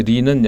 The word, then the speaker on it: 리: 이하고 사실은 그러니까 저는 이라고도 하지만 사실 원래는 리죠. 리죠, 리. 리. 우리가 예, 이제 두음 법칙. 법칙으로 네. 이라고 하는데 리가 원래는 발음은 리죠.